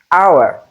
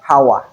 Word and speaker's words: hour: For instance, in this particular group of words, we don't have the sound, but we have letter H in the spelling. So this is pronounced as hour and not hour.